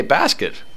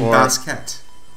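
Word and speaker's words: Bastet: new toot segment today oh hey basket yeah you mean baset yes I was about to correct myself on the proper Egyptian pronunciation apologies if I offended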